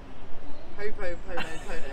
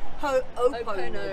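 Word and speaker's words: Hoʻoponopono: My pronunciation may be off here, but I know you know what this is, the Ho-po-pono-pono. Well, it's actually Ho-o-pono-pono. Ho-o-pono-pono.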